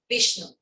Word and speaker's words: Vishnu: How do you pronounce it? Vishnu, Brahma, Vishnu, and Shiva.